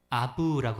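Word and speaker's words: אב: 아부라고 합니다. 그러니까 태권 V 할 때 V 있죠.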